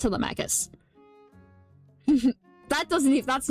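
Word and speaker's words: Telemachus: Um, but like I they mispronounced Telmacus in Epic and in the movie they pronounce it Tmicus. It's pronounced Telmacus.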